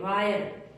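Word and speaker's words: wire: आई आर ई वायर इसको बीरे नहीं पढ़ेंगे वायर higher H आई आर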